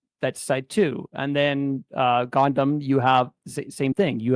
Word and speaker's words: Gohndim: Gohndim. Gohndim.